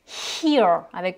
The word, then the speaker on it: hear: Autre homophone, hear, on prononce bien le H et là on a un long I.